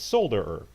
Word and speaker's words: solder: earth a sounder ER or as they pronounced in the rest of the world and not in a goofy us it's sold or so and I agree it should be pronounced with an L okay however in some ways the u.s.